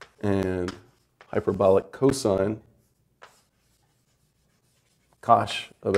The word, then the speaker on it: cosh: This is usually abbreviated cinch, and hyperbolic cosine is usually abbreviated C-O-S-H, and that's pronounced phonetically, cosh.